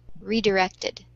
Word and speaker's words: redirected: For me, I hear it in the first syllable, redirected.